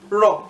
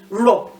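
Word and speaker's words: rò: Raw is to fall. Raw. It ends with the do. Well, it's just a one syllable word.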